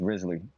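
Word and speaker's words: Wriothesley: hard save and pull it the answer radically pronounced rizzly oh is the next banner and he's the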